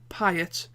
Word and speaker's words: Piet: it like that because he said uh my name rhymes with diet so hopefully i've just mentioned it right there uh ian piet who would win in